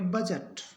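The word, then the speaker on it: budget: डी जी ई टी तो इसमें जो डी है उसका उच्चारण नहीं होगा डी साइलेंट है बड गेट नहीं पढ़ेंगे इसको पढ़ेंगे बजट बजट बी आर आई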